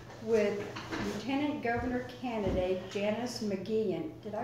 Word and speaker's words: McGeachin: Prince I mean but even my own husband mispronounced our name when we got married remember that mom rule is that I Jim McKean and half the church to start laughing because